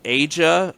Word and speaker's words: Aja: stuff yeah I'm just listen to Asia oh Asia Asia Asia Asia yeah Aja that's how you spell it okay they've been sampled a lot by